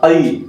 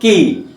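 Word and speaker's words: قِيلَ: Wa idza qai bukan ki, ya.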